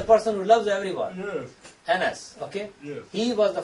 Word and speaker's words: Annas: One is Annas. A-N-N-A-S. How you pronounce it?